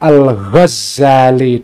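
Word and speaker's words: al-Ghazzali: Ada dua versi. Ada yang membacanya Al-Ghazali dengan tasydid, maknanya adalah Al-Ghazali itu maknanya adalah menunjukkan profesi atau pekerjaan.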